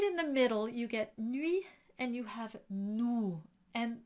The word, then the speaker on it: nuit: So if you recall, I said most of the time people pronounce nuit wrong. They put an ou sound instead of an u. And so they'll say nuit and not nuit.